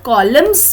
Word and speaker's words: columns: Now children, जब हम columns बोलते हैं, so the N word is silent.